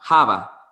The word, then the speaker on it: Java: a su mujer haba java en realidad es con una ligera jota que se pronuncia java por qué porque en